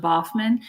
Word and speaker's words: Baughman: really don't care but my last name it's pronounced boffman and no one will ever get that right